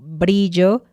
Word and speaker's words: brillo: que escribas es que después de algunas letras, es decir, B, C, D, F, P, G y T, la R también es suave, como brillo, frágil, tronco, prueba.